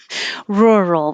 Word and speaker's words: rural: rural we haven't had it maybe this is the first time in uh this year so rural put your tongue in the r position and just make the ER noise or you can say